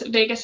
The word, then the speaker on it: vagus: I know the old adage says otherwise, but you'll notice Vagus is spelled differently, V-A-G-U-S.